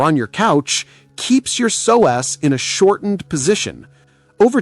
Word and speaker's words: psoas: Meet your psoas muscle, pronounced as psoas.